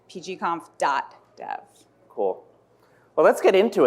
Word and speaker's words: PGConf.dev: the official is that the official way to pronounce it uh it is it's pgom dodev cool well let's get into it so the